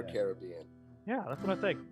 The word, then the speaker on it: Caribbean: time i met lee is it pronounced caribbean or caribbean let's let's do we've got parrot one for caribbean arabian caribbean there were the carob indians yeah right they're the carobs so it's for sure caribbean yeah that's what i